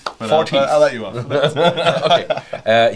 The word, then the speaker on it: Forteath: Forteath. Forteath.